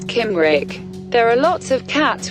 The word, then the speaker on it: Cymric: tail it is if it's succumb Rick pronounce Kim Rick there are lots of